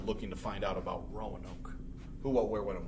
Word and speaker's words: Roanoke: This word, how you say it, is Roanoke.